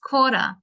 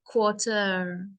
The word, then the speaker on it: quarter: Australian accent yes quarter if you want the American accent then the ER is pronounced more quarter the Australian ah huh so always say this always say the words before the ER so quarter and then the ER becomes ah it's quarter past two